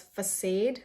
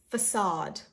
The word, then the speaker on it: facade: Some people pronounce it as facade or facade. This is facade. Facade. I know what you guys are thinking. There is no A, like a double A, like AA 2 times, right? So this, but still the pronunciation is facade.